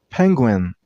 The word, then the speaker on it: penguin: And while pronouncing the word, use a stress on the first syllable. I mean on penguin.